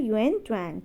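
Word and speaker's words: Xuanzang: Hyun Seng की बात करें तो ये हैं आपके Chinese Buddhist पिलिग्रम who came to India during the rain of king Harshvardhan. तो इनको वैसे इनकी प्रोनाउंसिएशन है युएन ट्वांग, ठीक है।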